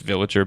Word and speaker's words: Viligir: an interesting artist title people you know mispronounce it but it's it's just villager but um the whole